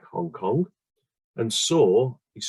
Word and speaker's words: Sau: like hong kong and saw is spelled s-a-u but sounds like the way the word saw s-a-w is spelled in english so hong saw and